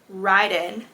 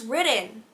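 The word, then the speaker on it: Riden: listen to the audiobook, apparently his name is pronounced Ridden. Who's Ridden? Who's Ridden? All I know is Raiden. I don't know. No, why is his name Ridden? His name is spelled out R-I-D-E-N. Why is it pronounced like R-I-D-D-E-N?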